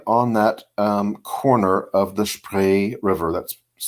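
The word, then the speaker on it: Spree: that corner of this pray river that's spelled SPR EE pray pronounced like an a sound talk about that again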